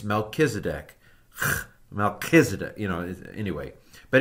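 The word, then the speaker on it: Melchizedek: ever catch you saying melchisedek I hate it when people say melchisedek there is no CH sound in Hebrew it's melkisedek kedc you know anyway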